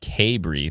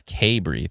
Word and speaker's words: Cabri: Oh, Cabri is is pronounced Cabri. Thank you very much, Jason. Appreciate that correction. So many town names I've absolutely uh just destroyed the pronunciation of. So, yeah, but it's Kbury.